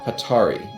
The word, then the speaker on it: Hatari: I'm throwing up a pause here uh it's pronounced hatari in the English pron in the English they